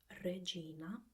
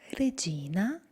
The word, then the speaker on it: regina: consonants while they speak so instead of ávila it becomes our billet or Regina becomes Regina and I think it's